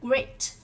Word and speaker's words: great: Chúng ta đọc ở đây là great. Great là âm gì? B ở đây đáp án được phát âm là âm A, great.